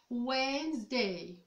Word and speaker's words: Wednesday: witness des comme ça mais pas en anglais on va pas prononcé le d on va l'avaler on va le rendre muet brady chine trop wet